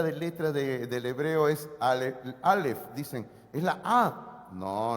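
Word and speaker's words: אלף: digámoslo así Ah no no se lee no se pronuncia en el idioma hebreo solamente es una letra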